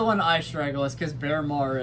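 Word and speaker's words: Baermar: That's the one I struggle with because Bearmar is how you pronounce his name.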